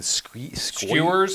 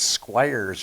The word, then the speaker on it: Squires: the guy's nameing again skewers it's not skewers it's Squires or sque sque put sque that's how it's pronounced s he was so